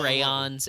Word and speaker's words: crayon: You add that extra syllable. That seems so. It's not extra. There's an O in It's so the word. lavish. It's so like, hedonistic. It's like you over there, you're like Dionysus with your extra syllable crayons. No, it's not an extra syllable. It's a necessary one because crayons are short for cranberries.